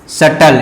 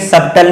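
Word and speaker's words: subtle: ये क्या है शटल, शटल, इसको क्या पढ़ेंगे जी शटल, ठीक है। सबटल नहीं पढ़ेंगे क्योंकि बी वर्ड क्या होगा यहाँ पे साइलेंट होगा, तो इसे पढ़ेंगे शटल, ठीक है।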